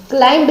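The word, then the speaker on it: climb: क्लाइंब नहीं बोलेंगे, क्लाइंब, तो इसमें बी साइलेंट होगा, ठीक है।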